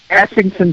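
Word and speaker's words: Essington: Ashington, Pennsylvania.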